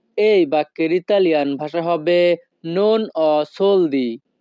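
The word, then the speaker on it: non ho soldi: আমার কাছে টাকা নেই এই বাক্যের ইতালিয়ান ভাষা হবে নন অ সোলদি। নন অ সোলদি। ইতালিয়ান ভাষাতে HO এর উচ্চারণ হবে অ।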